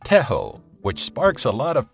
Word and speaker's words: Tejo: Colombia has a traditional sport called Tejo <pronounced Teh-ho> which sparks a lot of passion in both locals and foreigners, pun intended.